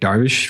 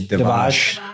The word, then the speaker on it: Darvish: We're going to have Darvish from from Tint Wiz. Did I pronounce his last name I correctly? think you just I think you messed it up bad. I did. I think it's Devash.